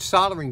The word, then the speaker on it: soldering: is indeed pronounced soldering there is an l in there but uh it's very difficult for us here in uh the northeast united states to pronounce that l in there it's it